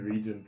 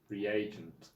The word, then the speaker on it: reagent: That's a, It seems like you're just saying regent wrong. Just putting it in here. So American pronunciation Is reagent.